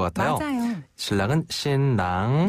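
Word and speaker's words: 新郎: 신랑이랑 신부는 발음이 우리 한국 발음이랑 비슷한 것도 있어요. 신랑이란 어때요? 발음. 자, 신랑 먼저. 신랑.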